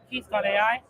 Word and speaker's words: KEATH: it is really really easy to use yeah so and Keith is spelled k e a t h yes just let's not